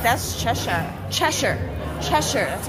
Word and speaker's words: Cheshire: is up there it's like that's Cheshire Cheshire Cheshire that's how you say it Cheshire smile Cheshire